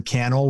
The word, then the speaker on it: Cannell: youtube channel and uh my name is sean cannell rhymes with youtube channel and s-e-a-n-c-a-n-n-e-l-l i'm everywhere